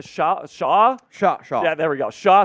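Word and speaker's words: Chau: Shaw.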